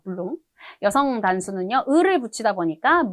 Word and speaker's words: blond: 남성 단수 형태는요, blond, 마지막 대가 발음이 없어요. blond.